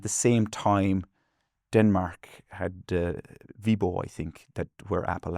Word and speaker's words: Viborg: uh proximity zone one in Viborg, I thought, but do you have a different Viborg, yeah, that's how it's pronounced here.